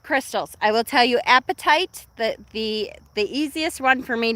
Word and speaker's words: apatite: And it's, of course, the easiest one to remember because it sounds like your appetite, right? It's spelled differently, but it sounds like that.